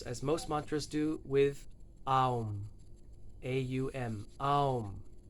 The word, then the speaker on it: Aum: It starts off, of course, as most mantras do, with Aum. A-U-M. Aum. You may know this word rampantly mispronounced as Om, which it's not.